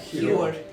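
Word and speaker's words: Hiohr: Hjord. H-I-O-H-R. Did you not hear it? How do you spell it?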